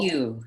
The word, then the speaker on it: Hugh: Hugh is how you pronounce it. Yeah, you got that right.